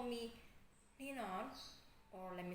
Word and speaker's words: Ninon: but you can call me Ninon, or let me spell it for you: November India, November Oscar, November.